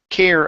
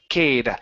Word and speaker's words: care: Care about. Care about. Care about almost. So you you're using a hard R. K. Cade. Instead of cade, it's care.